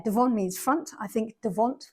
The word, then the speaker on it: devant: means front I think devant when it's written down it's got a t on the end which is silent I think devant front and der a